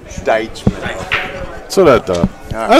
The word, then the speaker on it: Deitchman: Deitchman. Deitchman.